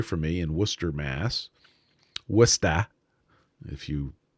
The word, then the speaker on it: Worcester: Worcester, if you pronounce it correctly.